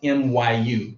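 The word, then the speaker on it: mu: right and it's pronounced myu me kind of like what a British cow would say I guess Mew Mew myu all right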